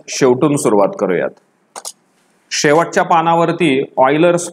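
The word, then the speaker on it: Euler: शेवटच्या पानावरती ऑयलर्स formula दिलाय किंवा उलर्स फॉर्म्युला. तुम्ही त्याचा उच्चार ऑयलर असा करावा अशी माझी इच्छा आहे, पण प्रोनन्सिएशन तुम्ही गुगलवरती चेक करू शकतात.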